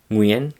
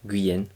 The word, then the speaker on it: Nguyễn: Nguyen, qui est d'ailleurs le nom de famille le plus répandu au Vietnam, et oui, ça se prononce bien. Nguyen et pas du tout Nguyen comme on le dit en français.